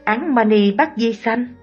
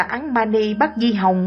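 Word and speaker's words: Án Ma Ni Bát Di Hồng: Bà lão ơi, bà đã đọc sai câu thần chú đó rồi, phải phát âm là Án Mani Bát Di Hồng mới đúng.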